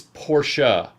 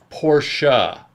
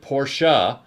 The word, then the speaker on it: Porsche: out he was like it's porsha portia and i'm like and it's jaguar yeah and i said okay and then i went and checked and the germans do pronounce it portia so then i pronounced